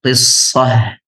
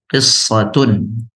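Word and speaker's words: قصة: Adapun cara bacanya jika kita sukunkan tnya kita baca qissah. Asalnya ada ta marbutah di akhir. Jika kita sempurnakan kita baca qissatun nam.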